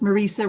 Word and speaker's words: Marisa: Yes, Marisa rhymes with Lisa. Marisa rhyming with Lisa.